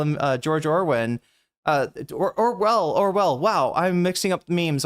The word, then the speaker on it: Orwell: I do know that his name is not George Orwin. I think that was the meme of the right winger saying this is just like George Orwell and not being able to pronounce his name correctly.